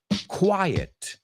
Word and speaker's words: quiet: Quite se pronuncia quite. No la confundes con quiet, silencioso, que se pronuncia quiet.